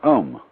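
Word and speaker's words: Aum: of course the sound um that sound is used because if you spell it out a u m it runs from the back of your throat to your lips and therefore it contains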